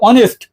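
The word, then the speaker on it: honest: এইযে এইচ এর উচ্চারণ অনেস্ট এইচ এর উচ্চারণ যদি অ এবং আ হয় এইচ এর উচ্চারণ যদি অ এবং আ হয় তাহলে কি বসাবা এন বসাবা এখন দেখ এইচ কিন্তু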